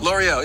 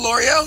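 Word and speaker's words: L'Oréal: L'Oreal, yeah, Okay, yeah.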